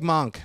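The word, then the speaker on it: Moench: at this one Doug monk I think he's that's how you say his name Doug Monk and uh uh what's his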